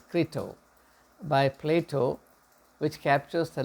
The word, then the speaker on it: Crito: And we have that beautiful book, Kritos, it's pronounced as Crito, by Plato, which captures the last day in the life of Socrates.